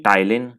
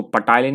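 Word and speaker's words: ptyalin: कुछ लोग बोलते हैं टाइलिन। यहाँ पे भाई पी साइलेंट होता है, इसको पटाइलिन नहीं बोलते हैं।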